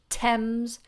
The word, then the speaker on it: Thames: very few of them they have an letter T and H together but we don't do or mmm we say Thames the River Thames in